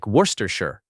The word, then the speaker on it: Worcestershire: This word looks impossible, but the real pronunciation is short. It sounds like worstershure.